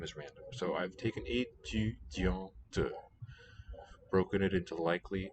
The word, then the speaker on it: étudiante: U, front vowel with rounded lips. Dian. And the This one is nasalized. T fits now at the end of that syllable. Étudiante. Or you can get a schwa there, starting a new syllable.